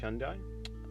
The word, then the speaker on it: Hyundai: I mean, I say Hyundai. Hyundai. It's pronounced Hyundai.